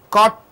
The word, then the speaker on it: caught: This T here this T is not spelled out. It is kept inside your mouth. Hit caught taught is not spelled out. Teacher, you are spitting it out. When T at the beginning of the word, you are spitting it out. T at the end of the word, it is stuck in your mouth.